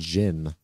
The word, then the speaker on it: Gin: Oh, is it Gin? It's pronounced Jin.